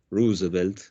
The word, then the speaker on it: Roosevelt: La cara de todo eso, si ustedes quieren, el presidente que representa toda esta movida es Theodore Roosevelt, así se pronuncia, que fue el primer Roosevelt, que no